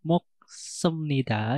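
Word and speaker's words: 먹습니다: Untuk moksemnida itu pengucapannya bukan moksemnida, akan tapi moksemnida, sama seperti kamsahamnida.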